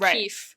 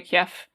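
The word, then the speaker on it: Kyiv: the new spelling right the KY IV spelling pronounced ke or something like that versus Kiev K IE V yeah okay so it's closer to an like an English F sound than a v sound somewhere in between probably the IPA that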